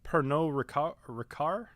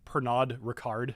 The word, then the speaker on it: Pernod Ricard: right so um so I was looking up how to pronounce uh pernot recar uh so Pernod Ricard right is how it reads uh but I knew that was wrong right because it's a French company and it's something like that I don't know